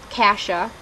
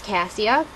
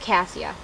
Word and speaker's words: Cassia: here um cross uh continues this story of casha I just learned that's how you're supposed to pronounce the main character's name I thought it was cassia because I had a best friend growing up